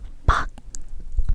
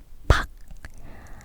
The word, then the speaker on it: 밖: trong hoặc bên trong 밖 = bên ngoài (Là phụ âm cuối (batchim), ㄲ được phát âm giống như ㄱ) Được rồi, tôi sẽ